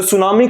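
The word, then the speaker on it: tsunami: ना और आप देखेंगे सुनामी की स्पेलिंग टी से शुरू होती है ऐसे नहीं होती है सुनामी अपने आप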